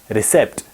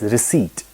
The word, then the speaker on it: receipt: pronounce this word r-e-c-e-i-p-t it's not pronounced as recept it's pronounced as receipt so we have to